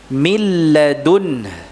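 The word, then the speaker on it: مِن لَّدُنْهُ: Tulisannya min ladunhu. Dibaca milladun. Ya, begini ya. Mana nunnya? Hilang. Karena ini apa?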